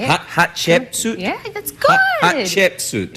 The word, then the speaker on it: Hatshepsut: good chip suit yeah cuz most people can't pronounce it they say h chip suit stumble over it that's that works too hat chut but you have to go with the hat you practice you actually